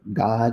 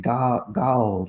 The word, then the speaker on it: God: Instead of saying God with one syllable, God, he would kind of draw it out to where it would have two syllables, like Gawald or Gawald and Gawald.